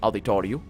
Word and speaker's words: auditório: Here in Portugal, we call it the equivalent of auditory, which would be pronounced auditório. But it's with a little bit of a harder R, because we don't say ru.